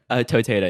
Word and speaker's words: Toteda: Toteda.